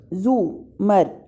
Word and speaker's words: زمر: بھی ملاقات ہوئی تھی۔ اس نے البتہ زمر کا نام غلط تلفظ سے بولا تھا، رے کے اوپر زبر کے ساتھ۔ اف، اٹس زمر، زو مر، زے کے اوپر پیش ہے، اس نے توڑ توڑ